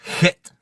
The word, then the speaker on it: Het: Then you have Het. That's right. That's how you pronounce a Hebrew letter. Het. You got to hawk at it to make it sound right.